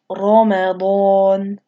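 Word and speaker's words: رمضان: be heavy is when the Ra has a fatha on top of it. So right here, here's the Ra at the beginning of the word, and then here's the fatha. So it's pronounced Ramadan.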